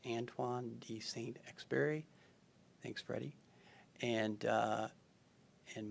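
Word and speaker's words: Antoine de Saint-Exupéry: to take away uh Freddie told me that first name is pronounced Antoine D saint experi thanks Freddie and uh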